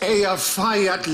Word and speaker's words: Eyjafjallajökull: And I think, actually, the way you're supposed to pronounce it is... Hutch. If only. it changes it. Apparently, it's Eyjafjallajökull.